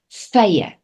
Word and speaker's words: vye: Again, the V sounds like an F. That sound. Doesn't sound like a V for video, right? So it's vye.